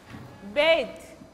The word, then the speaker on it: bathe: pronunciation will be like bathe, bathe. Bath, bathe. As a verb, its pronunciation will be bathe.